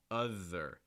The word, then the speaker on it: other: next one other other so this th is different because you're going to feel some vibration in your throat now okay so it's not author thir it's a there you feel that vibration other it's voiced another thing too with